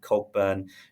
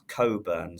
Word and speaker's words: Cogburn: She's ran thrice since being there, an unlucky third behind Cogburn, who have actually heard some Philistines pronounce Coburn.